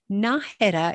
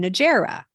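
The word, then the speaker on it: Nájera: to is good enough so to say naha is better than Nera right yes because if you say Nera people won't have a clue what you're talking about no idea if you say naha with a softer day yes people will know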